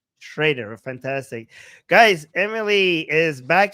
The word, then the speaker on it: Schrader: Do I pronounce it right? Shredder. Right. Shider. Yeah. Shider.